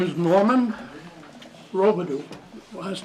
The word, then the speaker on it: Robidoux: My name is Norman Robidoux. Last name is spelled R-O-B-I-D-O-U-X.